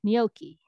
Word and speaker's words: gnocchi: names tell everybody gnocchi although i actually just say no key right but it's like the dough is it gnocchi i mean it's spelled that way so if we were in italy with her we would probably say like gnocchi right okay but here we just call her gnocchi okay so is that